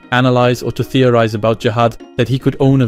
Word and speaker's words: Zahard: Oh, and concerning the writing of his name, its true spelling is Zahad, even if it is pronounced Jahad.